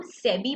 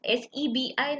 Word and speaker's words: SEBI: हम सेबी बुलाते हैं, हम SEBI नहीं बोलते हैं, इसीलिए इसको एक्रोनिम कहा जाता है।